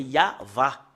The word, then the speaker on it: Yahvah: qu'on le lit depuis ici jusque là c'est yava voilà voilà le yava et nous voyons très